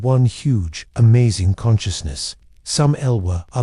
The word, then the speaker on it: Lwa: Vadu is about honoring the Elwa, pronounced lure, or spirits.